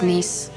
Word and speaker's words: Nice: It's pronounced niece.